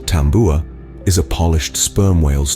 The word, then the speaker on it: tabua: Tabua, pronounced tambua, is a polished sperm whale's tooth, often strung onto a cord of braided coconut fibers.